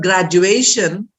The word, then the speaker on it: graduation: comes just before that so when i told you the word graduation is i pronounce it as graduation and i stressed on a that is the penultimate syllable graduation multiplication we don't